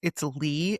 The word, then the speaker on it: Leigh: I just think, you know what, guys, if you're having a bad day, go check out, it's Lee. It's spelled Leigh.